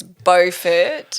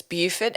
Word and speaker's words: Beaufort: in north carolina it's beaufort because it's the english pronunciation and in south carolina it's beaufort as in beautiful beaufit because that's the french pronunciation recently learned that when